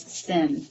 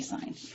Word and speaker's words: sine: i n e but is abbreviated as Sin but don't say sin say sign so we have a